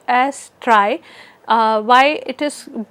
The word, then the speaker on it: trie: from other tree structures it is not pronounced as tree it is pronounced as try or tries so uh you know